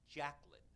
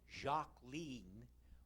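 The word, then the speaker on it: Jacqueline: informed my family that her first name was not jacn it was rather Jac lean one of my sisters-in-law whispered it rhymes with Queen but there was a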